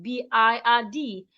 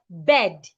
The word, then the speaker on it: bird: will pronounce this word B I R D as bed. No, do not make that mistake. Henceforth because of the R beside the I, the sound becomes longer.